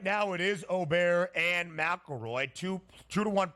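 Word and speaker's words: Åberg: right side rant here ludig oar is the pronunciation that he uses he is the tall swed despite playing his college golf at Texas Tech some call him ludvig aberer and I think many have learned that it's at least oberg we got to figure out the pronunciation Oar himself says Oar but some people still stick with obber yeah my Donnie right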